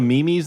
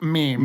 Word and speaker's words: meme: revenue and all the mimi's they were making of it god damn god damn it dane you know it's mean i'm sorry you know it's pronounced meme mimi's oh my god it's